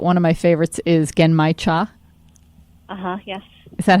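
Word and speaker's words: genmaicha: it correctly but one of my favorites is getting my cha uh-huh is that how you say it yeah again my Chung yeah very good with the little roasted pieces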